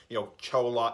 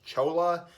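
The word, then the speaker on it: Cholula: But, I think going forward, traditional, like, your store-bought hot sauce, like, Chola, I think it's pronounced Chula hot sauce.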